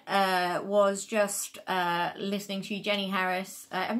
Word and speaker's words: Harries: The main one was just listening to Jenny Harris. I'm not sure if she's Harris or Harries. It's spelt Harries, but it seems to be being said Harris.